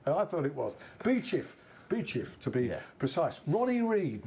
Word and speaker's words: Beauchief: It's like Grenell in Sheffield, or Beachiff. Beachiff, yeah. Not Beauchief. Not like I used to say Beauchief. No one calls it Beauchief.